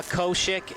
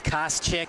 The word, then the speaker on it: Koschik: Well, we saw Koshik in the first home match. Actually, that's Koschik, how you pronounce it.